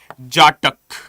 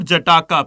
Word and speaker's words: Jataka: So simply speaking, what is Jatak? Whenever you encounter the term Jatak, okay, it's not Jataka, please make it clear. Do not pronounce it as Jataka. No, it is Jatak.